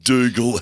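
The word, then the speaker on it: Doogal: votes to hilariously risen d-o-o-g-a-l doogle house we wrote it phonetically that's correct he's in third place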